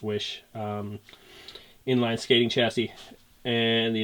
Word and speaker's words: Oysi: two frames right now there's the oisi or which i think is supposed to be pronounced wish inline skating chassis and